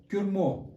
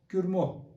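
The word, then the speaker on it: སྐྱུར་མོ: Now there is no dot in between this and suffix ra. So we have to pronounce all of this together.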